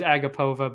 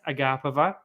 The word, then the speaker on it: Agapova: maria a agape sorry i thought it was agapova but yeah it's agape as we as i heard at length on saturday they talked about it quite a bit because they kept saying it wrong anyway for me that